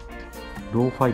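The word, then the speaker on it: ローファイ: ますと、ローファイって読むんですよね。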